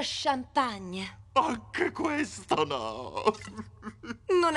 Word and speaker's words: champagne: patetico Scusa va pure vuoi il resto dello champagn no e si pronuncia champagne anche questo no non è la fine del